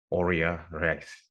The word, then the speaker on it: Aurea Reis: development manager Ted X spokesperson and brand ambassador Ora rice did I pronounce that correctly that that was actually very